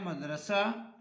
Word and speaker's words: مدرسہ: اس کے بعد ہے مدرسہ. اور مدرسے میں پہلا مفتو، دوسرا ساکن، تیسرا اور چوتھا مفتو. جیسے مشغلہ.